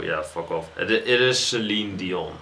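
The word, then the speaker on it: Céline Dion: It is Celine Dion, not Celine Dion.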